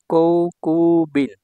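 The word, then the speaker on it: 航空便: কৌকুবিন, এটা হচ্ছে উচ্চারণ কৌকুবিন, ইয়ামেরু।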